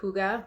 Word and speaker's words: hygge: hygge thing like that Scandinavian word hygge I think is how you pronounce it it's h-y-g-g-e and it